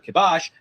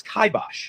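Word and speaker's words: kibosh: Just like this word, which many people pronounce as kibbos or kibash, but is correctly pronounced as kaibosh.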